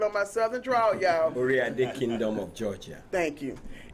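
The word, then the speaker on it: Oyotunji: a kingdom of Georgia and so did I pronounce that right orad Kingdom okay I'm still working on my Southern draw y'all orad Kingdom of Georgia thank you and he'll be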